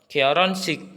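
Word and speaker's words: 결혼식: ke topiknya yang pertama ini dibacanya koron koron sik artinya pesta pernikahan ini hitnya akan hilang dileburkan Jadi dibacanya koronik koronik koron sik bentar Oke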